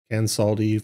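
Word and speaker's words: Kansaldi: And in chapter 2, there is a pronunciation guide for the adventure. So is it Cansaldi? Let's see. Cansaldi Fire Eyes, yeah.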